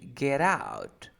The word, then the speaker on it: get out: say get out but you say that t is between two vowel sounds you pronounce like r so you say get out it's not get out